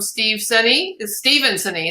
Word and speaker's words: Steven Senne: And then we have this image from Steven Senney.